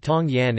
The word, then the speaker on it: 唐人: Teochew, refer to themselves as Tang Ren, Tangren, pronounced Tong Yan in Cantonese, Tong Ning in Huchu, Tian, Jilang in Hokkien, and Tong Nyin in Hakka.